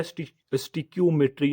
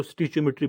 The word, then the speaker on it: stoichiometry: स्टिच्योमेट्री या स्टिक्योमेट्री या स्टिचाई, यहाँ के डिफरेंट प्रोनाउंसिएशन हैं इसके, तो स्टिच्योमेट्री बेस्ट है इसके लिए।